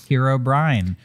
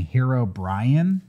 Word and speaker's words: Herobrine: that lives inside minecraft herobrine which by the way i found myself slipping and and kind of not being so precise with my pronunciation and it kind of sounded like i was saying hero brian i i when you said it i thought it was hero brian uh i just